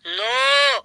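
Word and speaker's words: know: স্যার ওটা লেখা আছে কে এন ও ডব্লু নো। এখানে কে উচ্চারণটা মুখে হবে না একদম ঠিক বলেছি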